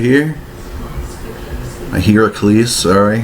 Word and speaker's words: Heracles: So I got my Hercules right here. A Heracles, sorry. I call it a Hercules just because, well, it's pretty much how it's spelled.